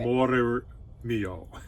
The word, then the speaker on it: Amore Mio: And in Italian, you have to roll your R's. That's the secret. Amore Mio.